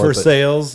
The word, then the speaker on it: Versailles: comes out of uh versailles kentucky at least that's how i think it's pronounced maybe thinking french that's what they call it for sales it may be yeah